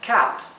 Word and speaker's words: cap: Aquí esta palabra es diferente, significa gorro y se pronuncia cap. Cap. ¿Sí? Al igual que Sam. Cap. Una A más abierta.